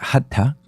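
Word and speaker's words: hatha: hatta la palabra hatta se escribe h a t h a se pronuncia hatta eh significa no es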